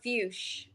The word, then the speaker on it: Fuchs: I mean, technically that's kind of how you say it because it's German based, but my family pronounce it Fuchs.